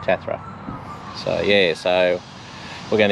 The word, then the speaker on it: Tathra: down the coast to tetra tathra hmm or tarther i think they pronounce it that's right tathra so yeah so we're